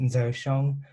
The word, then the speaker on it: Ger Xiong: But here's actually my Hmong name, and it's pronounced Ger Xiong.